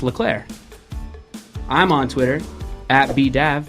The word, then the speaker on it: Leclerc: The C at the end is silent because it's pronounced Leclerc.